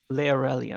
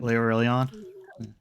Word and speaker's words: Laerelian: The Laerelian. Laurelion? Laerelian, actually. But yes. I mispronounced it.